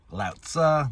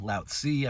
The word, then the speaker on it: Lao Tzu: Lao Tzu, Lao Tzu, I've heard it pronounced different ways.